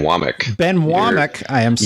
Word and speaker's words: Wommack: special guest today Ben wac is did I say it right no you didn't it's Ben wck Ben wck I am